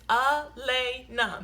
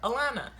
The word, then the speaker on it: Elena: It's Elena. The same way that it's spelled, that's how you say it. Elena. There's no confusion there. There's no silent H. The Y is not pronounced like an H. Like, I don't know why people call her Alana.